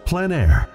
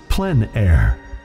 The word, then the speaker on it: plein air: we cover the world of outdoor painting called plein air the French coined the term which means open air or outdoors the French pronounced it plan air others say plein air no matter how you